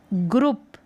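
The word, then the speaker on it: group: ग्र उप, ग्रुप, ग्रुप उच्चारण है, ग्रुप।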